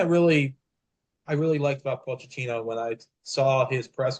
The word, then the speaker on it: Pochettino: So, it's Pochettino. So, I'm finally learning the correct way of pronouncing his name because I didn't want to